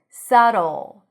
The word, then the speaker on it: subtle: So it's not dl, la, but o. The tension is here. It almost sounds like we're adding a little O there. Subtle. And yes, it sounds like the end of the word bottle.